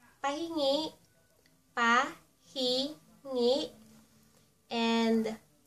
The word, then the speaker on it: pahingi: And our last Tagalog word for tonight, is ----- Pahingi.